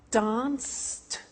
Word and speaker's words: danced: Now, when we add the e d, what happens is the pronunciation becomes t.